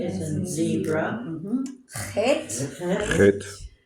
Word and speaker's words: Het: Het, Hit. CH as in Bach.